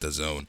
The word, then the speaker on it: DAZN: the afternoon, the game that I find on DAZN, whatever you want to call it. It's pronounced DAZN.